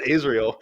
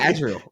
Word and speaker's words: Azrael: Azrael yeah Azrael yeah yeah you said Israel I said Azrael you said Israel I not say Israel I swear to God you said Israel I know the you obviously read azreel but you pronounced Israel and I was like